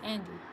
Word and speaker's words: Andy: So it's not And Why, it's Andy.